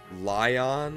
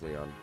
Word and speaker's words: Leon: need the you're confused is it pronounced lion or or Li well spell with a yse I think it's lion that's Leon apparently it's Leon Joshua hey we've got